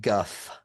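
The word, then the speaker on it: Gough: I I am reading now that it is pronounced Guff. Gut. Okay, great. Gut.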